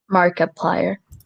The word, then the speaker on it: Markiplier: How do you pronounce that? Markiplier.